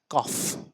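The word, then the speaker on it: cough: দেখুন এখানে করছে ও ইউ গট আর এখানে উচ্চারণ করা হচ্ছে কফ কাফ সি ও ইউ জি এইচ কাফ কাফ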